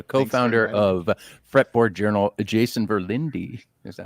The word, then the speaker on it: Verlinde: to have you co-founder of fretboard Journal Jason verlindi is that how you pronounce it yep that is how we pronounce